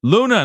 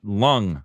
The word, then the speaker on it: Luna: Luna, not Lung. I apologize. The G is silent.